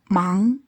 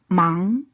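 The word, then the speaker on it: 忙: Mang. Busy. Mang.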